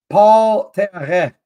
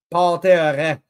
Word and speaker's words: Paul Terre: Paul Terre. I'm going to pronounce your name correctly. Paul Terre. I bet no one's ever said that to you. It's the French way of pronouncing your name.